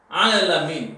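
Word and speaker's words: العالمين: See the pronunciation. Alamin. There are 2 times long vowel.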